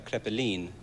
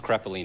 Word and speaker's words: Crepine: better learn this well the full pronunciation is crepine but it's crepine in English or crepine I go by would